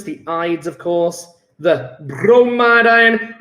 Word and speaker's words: bromide: The bromide ion. Whenever you say bromide or bromin, you've got to say it like an Italian accent with a roll, that bromin.